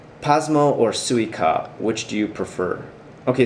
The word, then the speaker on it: Suica: be mad at them daniel says pasmo or suica which do you prefer okay so suika is not spelled in romaji so are you trying to say suica as in the japanese watermelon because if it